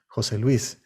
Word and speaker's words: José Luis: first name that is pronounced as a single word emphasizing the accent on the second name names like jose luis or maria elena are pronounced jose luis and marielena in the